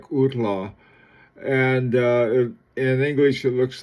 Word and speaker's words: Hautlence: It's the French pronunciation of something like outla, and in English it looks like sort of hot lunch.